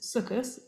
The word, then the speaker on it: Sukkot: So Sukkot, which is also known as Sukkot, same word, different pronunciation, is in English sometimes called the Feast of Tabernacles from the Greek, or the Feast of Booths.